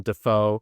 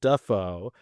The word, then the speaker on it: Dafoe: Defoe as well because when his career originally started uh he was using Defo and now uses Duffo and apparently it's a huge like back and forth in his family about what the correct pronunciation is. Uh, Defo does not have the Hollywood glamour pizzazz. That's probably why he switched it up, baby. Because everybody else was already saying it, Duffo.